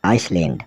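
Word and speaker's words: island: चलते हैं S alphabet की ओर जिसमें एस साइलेंट रहने वाला है आई एस एल ए एन डी आइसलैंड मतलब टापू आई एस एल ई आइल आयल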